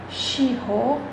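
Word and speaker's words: 司法: Esse aqui a gente chama de shirô. E esse aqui a gente chama de gyosei. Então, a pronúncia iripô, pô é mais alto. Shiho, shi é mais alto.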